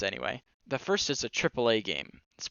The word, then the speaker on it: AAA: The first is a AAA game. It's pronounced AAA, literally like that.